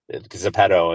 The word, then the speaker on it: Zepeto: Zepeto in Wait, South Korea.